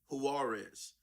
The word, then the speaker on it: Juarez: 6 days after Yasmin Juarez, the J is silent, and her 19-month-old daughter, Marie, enter a U.S.